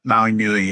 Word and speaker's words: Maui Nui: Um, so the one that I'm drinking that you mentioned, um, the Maui Nui, is that how you say it? Newi. Yep. Maui Newi.